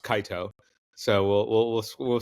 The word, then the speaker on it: Kaito: you terrey fans out there uh Kato is pronounced Kaio so we'll we'll we'll we'll square that up